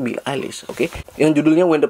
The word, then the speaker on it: Billie Eilish: Juara Indonesian Idol tahun lalu berduet dengan Rimar menyanyikan lagu Billie Eilish, bacanya Billie Eilish, oke, yang judulnya When the Party's Over.